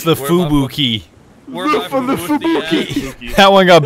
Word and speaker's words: Fubuki: Farragut, is that how you pronounce yeah, Farragut. That? Farragut. Farragut. Okay. Yeah. I mean, there is the Fubucky, so. The Fubucky? Where's the Fubucky? It's the Fubuki.